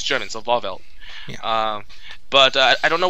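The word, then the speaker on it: Wahrwelt: Yeah, and Yuak basically just names his new palace called Walwelt or something like that. I'm not sure. I think at least one of those W's is pronounced like a V.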